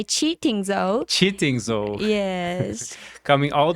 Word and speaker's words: QiTing Zou: Yes, you can say kidding, but the proper way is to say cheating though.